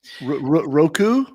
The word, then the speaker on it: Roku: Roku, did I say it right? Roku?